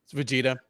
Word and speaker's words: Vegeta: I guess I say that name wrong. It's Vegeta.